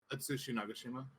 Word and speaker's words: Atsushi Nagashima: Atsushi Nagashima? Is that the right way to say it? That sounds passable. Nagashima. Yeah. I think it's right. Atsushi Nagashima.